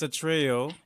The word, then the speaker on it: Atreyu: uh where they got their name your name atria or a trio a trio how do you pronounce the name so it's a trio uh we got this well actually my dad